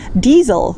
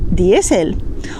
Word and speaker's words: diésel: Porque el laser está escrito con una letra A, entonces vamos a pronunciar lógicamente láser. Algo similar ocurre con diesel, que en español se dice diésel, o lycra, que en español es licra, o incluso whisky, que en español es whisky.